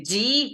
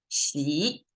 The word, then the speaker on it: Xi: Instead of Xi, people a lot of times say G, because who knows how to pronounce this X sound, but it sounds like Xi.